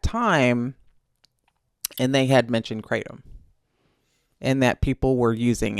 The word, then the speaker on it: Kratom: I think in Asia they say Kratom. But we are in America, so we're going to say Kratom.